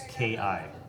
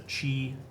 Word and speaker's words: ki: done here key points so it's ki key points some people pronounce a chi chi or ki you have six your